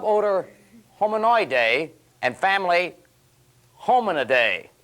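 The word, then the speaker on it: Hominidae: home in a day now I've got a good way to pronounce that if your mom calls you and says where are you you just say mom look don't worry I'll be home in a day hang-up genus Homo and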